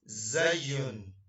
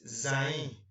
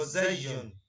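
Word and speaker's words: زاي: So let's go to the next one, and that is zayun. Many people call it zain, but its name is zay.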